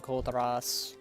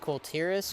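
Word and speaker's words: Kul Tiras: Simply because Azeroth is growing on Koltaras. I know it's pronounced Koltiris, but I just like Koltaras better. It makes me roll my tongue and makes me sound cool.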